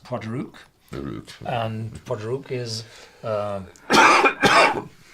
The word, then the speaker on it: Port Ruighe: Also, it's pronounced Port Ruighe, and Port Ruighe is the capital of the Isle of Skye.